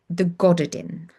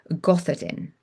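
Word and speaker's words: Gododdin: reading a translation of a book called the Goddardin or the Gothardin. It's spelled Goddodin.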